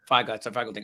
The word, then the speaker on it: Feigl-Ding: Feigl-Ding.